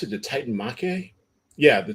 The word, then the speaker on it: Titanomachy: Titan War, or the Titan, how do you pronounce it? The Titan Mache? Yeah, the Titan Mache.